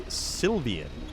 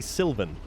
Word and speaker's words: Sylvan: can't say my name he continues to say sylvian when your name is obviously sylvan like uh like a woodland elf perhaps sylvan although there